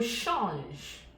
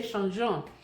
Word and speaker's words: change: I didn't say changeant. Most French beginners make the mistake of pronouncing this as ENT. As much as ENT, you pretend as though the pronunciation ends here.